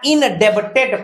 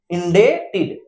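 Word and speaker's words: indebted: यहां इनडेप्टेड पढ़ते, इनडेप्टेड, इनडेप्टेड, तो ब यहां साइलेंट हो गया है, तो देखिए इसको क्या पढ़ रहे हैं, इंडेटेड, इंडेटेड, इंडेटेड पढ़ते हैं।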